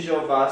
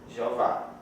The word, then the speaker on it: Jeová: Então, em nossas letras da língua portuguesa, o nome de Jeová seria escrito JHVH e o nome Adonai seria DNY.